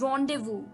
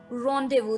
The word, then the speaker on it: rendezvous: तो चलिए, अभी के लिए seventh word for the evening is रॉन्डेवू। रॉन्डेवू, जी हाँ दोस्तों, जैसा ये वर्ड है वैसे इसकी स्पेलिंग बिल्कुल नहीं है, तो बहुत ही ध्यान से नोट कीजिएगा।